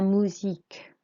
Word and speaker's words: musique: La musique. La musique. So the U is an U sound, like an OO in English.